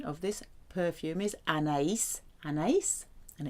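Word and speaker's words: Anaïs: pronounce all the letters II giri's many people pronounce this perfume in correctly they say an a an a but there's two dots over the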